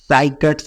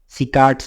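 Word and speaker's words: cycads: हमें कोनिफर्स मिलेंगे और साइकट्स बोलते हैं इसको, या फिर कहीं कहीं इसको सिकाट्स भी बोलते हैं, साइकट्स बोलते हैं, अलग अलग प्रोनाउंसिएशन है, आप कैसे भी ट्रीट कर सकते हैं इसको, ठीक है।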